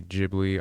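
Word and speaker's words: Ghibli: and I've stated again I know some people say jibli I always say gibli so that's just how I pronounce it but as far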